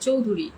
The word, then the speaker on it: চৌধুরী: উচ্চারণ হলো চৌধুরী। কেমনে চৌধুরী হয়? CHY চৌধুরী উচ্চারণ এইভাবে হয়, CHOWDHURY।